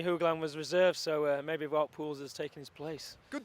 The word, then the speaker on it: Wout Poels: Well, Dean, Wout Poels, and by the way, that is how you pronounce it, and Johnny Hugeland, what can you tell me?